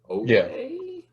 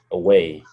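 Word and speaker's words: Oweh: Away? Away.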